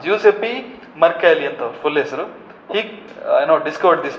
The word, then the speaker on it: Giuseppe: how you pronounce that giu ACP how you pronounce that juice FB right Giuseppe Mercury I know discovered this Mercury skin that's